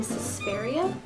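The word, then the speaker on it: Suspiria: D liquid lipstick in spiria I'm really not good at pronouncing these names it's like suspense but with an A at the end so this is how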